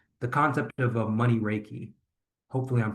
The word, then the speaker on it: Reiki: Another aspect of your business that I want to make sure that we dove into is the concept of a money Reiki. Hopefully, I'm pronouncing that right.